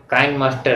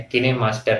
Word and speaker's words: KineMaster: इसी प्रकार से जो काइन मास्टर है या किने मास्टर है इसका भी उच्चारण करते हैं, लेकिन कहते हैं कि चाहे फुल्की कहो और चाहे पानी पूरी, बात एक ही होती है।